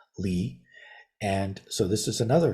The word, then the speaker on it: 離: side is another character that's also pronounced Li.